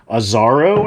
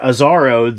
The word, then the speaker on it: Azzaro: It's a 3.3 ounce Azzaro, I think is how you pronounce it. Yeah, Azzaro, the most wanted cologne.